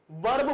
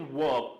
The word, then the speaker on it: verb: वर्ब बोलते हैं हम लोग। वर्ब इज नॉट the correct pronunciation. This is वर्ब। आर यहां पर साइलेंट होता है।